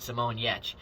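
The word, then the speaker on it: Simone Giertz: this maker uh of various things uh named simon yetch that is not spelled uh like it is pronounced again links to all of these uh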